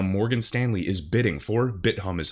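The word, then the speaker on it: Bithumb: So now Morgan Stanley is bidding for, BitHum is how I pronounce it, South Korea's top crypto exchange for a $2 billion valuation.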